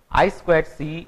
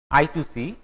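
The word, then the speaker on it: I²C: It is pronounced as I squared C or sometimes called I2C.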